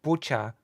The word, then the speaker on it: Bucha: Yeah, and it does not sound like it has a T. Do you hear a T? No, Bucha.